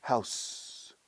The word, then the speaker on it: house: Es interesante, la palabra casa se pronuncia house, con S fuerte, ¿no? Como Mickey Mouse, Mickey House. Y en el plural también, houses, S fuerte, houses.